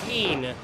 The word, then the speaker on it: Kean: viewer we apologize apparently it is keen curtis not keen even though it is spelled keen spelled keen i feel validated because i